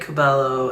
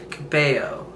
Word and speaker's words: Cabello: But I was still saying Cabello, and nobody was like, hey yo, it's pronounced Cabello, which makes freaking sense, and I'm an idiot.